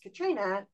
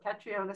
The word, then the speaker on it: Catriona: uh are so inclined which I thought was pronounced Katrina but when you have audio books and they pronounce the name you have to think they got it right so catriona silly and of course